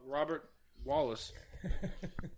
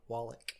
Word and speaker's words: Wallach: And they also know about Robert Wallace. Jesus, You can't even say it right. It I don't know. What was it? was Robert Wallach.